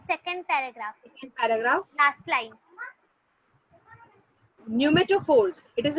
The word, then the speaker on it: pneumatophores: न्यूमेटोफोर्स इट इज a name बेटा. न्यूमा उसमें का पी साइलेंट होता है, जैसे निमोनिया में पी साइलेंट होता है वैसे न्यूमा NEUMA न्यूमा न्यूमेटोफोर्स.